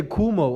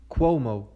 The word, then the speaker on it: Cuomo: pronounce their name well I want to say kuhmo all the time Como Cuomo okay I got it see it took me